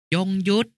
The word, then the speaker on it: ยงยุทธ: มัชฉา หมาย ถึง ปลา ยงยุทธ อ่าน ว่า ยง ยุทธ หมาย ถึง กล้า